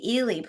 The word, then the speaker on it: Ehle: you're talking and because in my my brain i had always pronounced it eel it's actually eeli yes and you know